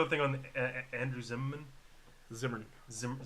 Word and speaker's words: Zimmern: Zimmern. Zimmern. Zimmern. Zimmern. Zimmern. 2 syllables.